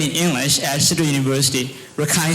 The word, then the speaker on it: Rakhine: english at cedar university rakhine state as or as you would say ricken state i'm still working on